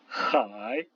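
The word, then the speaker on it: 海: AI, ça se prononce comme dans bataille, par exemple le mot qui veut dire la mer, hai.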